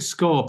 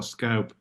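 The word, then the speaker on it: scaup: was looking for scor is it scorp or scope scorp scope scorp yeah scorp yes that's interesting because it's like scotter scooter um scorp scope and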